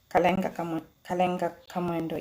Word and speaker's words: Kalenga Kamwendo: But to us, he'll still be the young pilot, Kalenga Kamwendo. Did I say it correctly? Kalenga Kamwendo, yes.